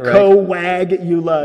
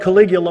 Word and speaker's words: Coagula: We even put a phonetically right? Coagula. Yeah. Yes. We had to make sure everyone could pronounce it, because I've been called Caligula more times than the emperor himself.